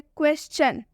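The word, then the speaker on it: question: क्वेश्चन, क्वेश्चन में एस है, एस के बाद से TION आ रहा है ना TION, इसलिए हम क्वेश्चन में TION का उच्चारण चन से करेंगे।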